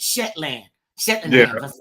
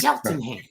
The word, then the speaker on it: Cheltenham: saying this right and I kept calling it Shetland Shon that's not it it's sheltonham so I broke it down shell the number 10 and ham Shelton there you go well I I